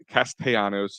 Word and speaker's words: Castellanos: We had high expectations when they signed Schwarber and Castellanos, if you want to pronunciate it correctly, because I got yelled at a couple times for that.